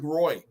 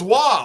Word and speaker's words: Roy: Well, how long did everybody was calling Patrick Roy, Mr. Marine, right? How many people called him Patrick Roy, including myself? No, it's Wah. I'm like, Wah, it's Roy.